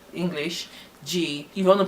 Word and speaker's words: g: Na asụsụ ndị Igbo, gi ị ga-ede ya ka G, English G. If you want to pronounce it, pronounce as gi, which G-E-E, gi.